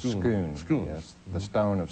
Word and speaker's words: Scone: The stone is also known as some people pronounce it Scone, but I think the correct pronunciation is Scone.